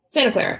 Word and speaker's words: Santa Clara: Santa Clara.